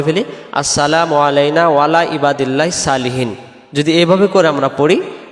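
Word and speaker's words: صالحين: আলাইনা ওয়ালা ওয়ালা মানে উপরে ইবাদিল্লাহিস আল্লাহর বান্দার সালেহীন নেককার বা সৎ সলিহীন শব্দের অর্থ হলো নেককার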